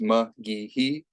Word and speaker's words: McGeehee: It is pronounced McGeehee. So, you know, it's a little bit weird. Some people get it wrong all the time, but that's how it's pronounced.